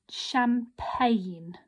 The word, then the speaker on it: champagne: this word that's right the word doesn't start with a silent letter this isn't our silent letter here our silent letter is here so when miss moore said sometimes it can be in the middle of words this is what i mean here okay so we've